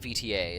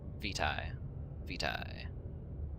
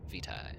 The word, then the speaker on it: vitae: Okay, it's not VTA. It is I went to look up the pronunciation, and then I immediately fucking forgot it. God damn it, man. It's just VTA? No, I was trying to figure out how to pronounce it. Vitae. That is how you say that word.